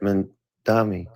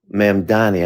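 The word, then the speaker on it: Mamdani: I work in the city and I like the fact that Mandami uh Mamani I got to say his name right Saran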